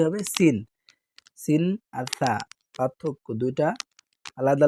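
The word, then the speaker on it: سين: সদ আর সিনকে আমরা সদ সিন উচ্চারণের সময় খেয়াল করব যাতে একই না হয়ে যায়। সিনটা একটু পাতলা। সদটা একটু মোটা।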